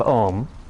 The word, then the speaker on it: Om: Swami says that Om has 4 syllables. A, U, M, and then silence.